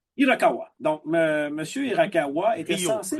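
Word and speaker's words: Hirakawa: nom je ne suis pas capable de le prononcer pour l'instant je m'en excuse à c'est Irakawa Irakawa donc monsieur Irakawa était censé Rio Irakawa Rio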